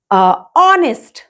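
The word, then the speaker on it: honest: लगाएंगे ठीक है ओके ऑनेस्ट ऑनेस्ट देखिए एच है यहां पे ये तो आपका कॉन्सोनेंट है लेकिन इसका हम प्रोनाउंस दंग साइलेंट होता है एच और ऑनेस्ट बोलते ऑनेस्ट ऑनेस्ट तो इसलिए हमें यहां पे एन लगाना है ओ की साउंडिंग आ रही है ऑनेस्ट ना कि वन की जैसे इसमें वन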